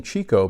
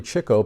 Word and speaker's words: Chico: Chico as I found out that's the correct pronunciation of Chico I was used to saying Chico but it's really Chico per Groucho Marx in a a number of